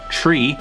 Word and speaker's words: three: are saying for example three is actually said as tree like the tree that's in your backyard or front yard or something and